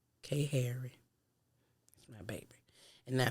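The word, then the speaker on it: Khairi: that's what i'm saying my baby name is spelled k harry look like that with the kh but it ain't know why the end it's k h a i r i k harry that's my baby and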